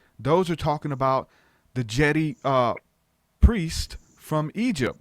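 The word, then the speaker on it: Djedi: are talking about the Jedi priest from Egypt. Like there was a real priesthood of magicians called the Jedi. I think it's spelled D-J-E-D-I. It's got a D in front of it.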